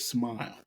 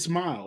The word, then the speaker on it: Smael: It's actually spelled differently. It's Smael, but we pronounce they say it Smile. Interesting. It's Smile, like Smile, Smile.